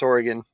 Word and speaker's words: Oregon: It's Oregon.